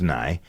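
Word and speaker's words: Nighy: I guess that's but no, it's pronounced Nye.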